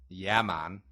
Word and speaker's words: Yemen: I don't know if there's like something in Yemen or wherever where it's just more I don't know it's pronounced Yaman oh my bad or like qar or gutter